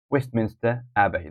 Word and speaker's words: Westminster Abbey: stressed the Westminster Abe Westminster so Westminster Abe Westminster Abbey the first syllables Covent Garden the first syllables Covent Garden